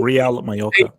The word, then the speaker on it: Real Mallorca: Real Mallorca. Say it right. Put some respect to the name. Real Mallorca.